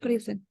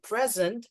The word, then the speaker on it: present: Present. Stress the first part.